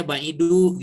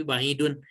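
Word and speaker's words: بعيدٌ: Jangan sampai ini dibacanya ba'idu gitu, tapi ba'idun. Nah, kalau yang domah biasa begini, yang tanpa tanwin.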